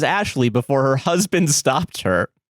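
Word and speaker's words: Ashliegh: Ashley, spelled A S H L I E G H, pronounced as Ashley before her husband stopped her.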